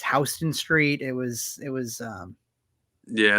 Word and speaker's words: Houston Street: I mispronounced Houston Street. Apparently it's Houston Street.